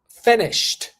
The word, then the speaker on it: finished: finish I finish teacher no you're saying finish finished the past is finished finished all right so